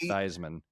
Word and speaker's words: Theismann: Pronounced Theismann. He's Theismann no matter what.